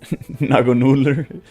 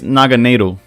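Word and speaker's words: Naganadel: Okay, I got a Naganoodler. Okay, apparently it's Naganado. That seems easier to pronounce than whatever I was just trying to say.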